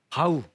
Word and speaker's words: bow: 왔습니다 요건 동사를 쓰였죠 동사를 쓰였을 때는 보우 활이 아니고 이때는 바우 바우라고 읽어 주셔야 됩니다 바우 절하다 고개를